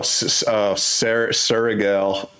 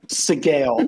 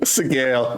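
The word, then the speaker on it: Sgaeyl: Oh, Surigal. Fuck me, dude. I literally told you how to say it. Sigale. Sigale. Yeah.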